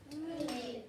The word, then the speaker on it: tape: Tape. I say it, you say it, tape. Tape. Okay, now, I want to make, now notice that my word tape ends with a silent E.